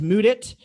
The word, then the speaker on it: Mudit: so what's going on everybody my name is moodit that you know that's that's spelled m-u-d-i-t but i do not work in